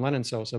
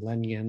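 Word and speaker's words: Lenyn Sosa: weeks ago but uh as i like to call him lennon sosa but uh you're calling him lenyon or whatever so i guess that's the proper pronunciation um even though i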